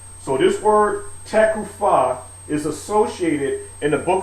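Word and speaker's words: תקופה: And like I said before, we'll get into the pronunciation of these words a little bit later on, but I say takufah. All right, I'm not, observing the and this F should be actually a PH.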